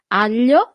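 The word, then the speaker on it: aglio: Here we have this combination of letter that for foreigners is always a little bit e hard to pronounce. Sorry. It's g a l i. That's the sound.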